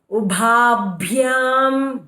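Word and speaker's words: उभाभ्याम्: Ubha, okay, bha should be with emphasis. Ubhabhyam bhyam, okay, don't say ubhabhyam.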